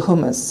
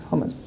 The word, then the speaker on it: humus: Humus as in earth. I'm German, so I sometimes pronounce things weird. Is that the right way of pronouncing it? Hummus. Yeah, good. It's not hummus, I know.